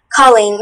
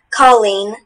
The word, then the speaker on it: colleen: Colleen, may I have the language of origin? Colleen is from Irish Gaelic. Sorry, thank you. Colleen, C-O-L-L-E-E-N, Colleen.